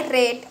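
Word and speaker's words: read: मी पुस्तक वाचले आय रेड a book I रेड a book रीडचा pronunciation simple past tense मध्ये रेड होतो आय रेड a book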